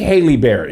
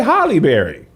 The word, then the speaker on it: Halle Berry: right the way hey that's not how it's pronounced people always say haley like holly berry but we don't say haley berry what's that is haley berry huh what if